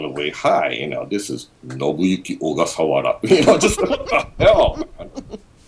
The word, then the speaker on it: Ogasawara: It's completely phonetic, so it's like pronounced like Ogasawara, like the title. Ogasawara.